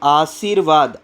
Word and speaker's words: आशीर्वाद: पर पड़ जाएगा रेफ जैसे आशीर्वाद आशीर वाद तो किस पर पढ रहा है रे व पर